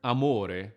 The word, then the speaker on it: amore: In Italian, we don't use glottal stops because of the legato, which is exactly the opposite of it. The word amore, which starts with a